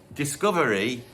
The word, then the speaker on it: Discovery: And then 79, you get Discovery, or as their keyboardist Richard Tandy called it, Disco Very, which later on was stolen by Daft Punk for their album Discover, which they did pronounce Disco Very.